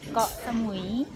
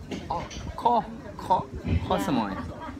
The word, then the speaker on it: Koh Samui: No, not Koh Samui, it's Koh Samui. Koh Samui.